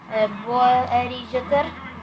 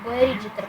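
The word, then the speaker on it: Boerrigter: Стов з м'ячем втрата Борджетер. Боерджетер. В минулому випуску я зовсім неправильно вимовляв його ім'я. Я подивився в інтернеті бойртер. Правильно. Дивимося.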